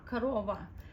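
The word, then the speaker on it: корова: But when we pronounce it, even O's kind of sound like A sound, korova. Some people say korova, but that's very rarely. It's more like original dialect. Most people blend it to korova, and you have to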